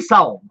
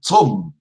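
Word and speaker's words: צום: Et en hébreu, on dit saum. Saum. Ah ah. Et siyam, non. Saum. Saum. Saum en hébreu. En hébreu biblique. La prononciation moderne en Israël, c'est tzom.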